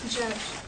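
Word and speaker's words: Djerdj: Pronounce it. Judge.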